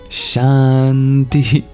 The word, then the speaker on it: Shanti: learn Sanskrit is just by hearing it it's pronounced shant but in dagi which is the most common